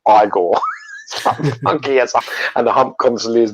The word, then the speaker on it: Igor: be igor in it he's like no it's pronounced igor and the hump constantly is moving from which